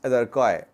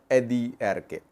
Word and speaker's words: Addi Arkay: People say it's Adiarkay, not Addi Arkay.